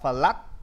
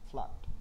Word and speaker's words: flood: Đừng đọc là flood. Flood.